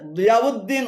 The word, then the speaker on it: দিয়াউদ্দিন: তবে দিয়াউদ্দিন উচ্চারণ সঠিক, কেননা দিয়াউন শব্দের শেষে হামজা রয়েছে, হামজা দাল পেশ উদ হবে। দিয়াউদ্দিন এটি ঠিক আছে।